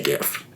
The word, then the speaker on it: GIF: tell me I'm wrong when I say GIF I I feel very strongly about that my argument is the G is for graphics Graphics interchange format G with graphics with a hard G but here's the thing